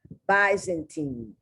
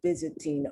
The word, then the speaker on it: Byzantine: frankly i've heard of byzantine also so some people pronounce the why once it's not a short word also pronounce the y as the long i and other people pronounce the y in this word in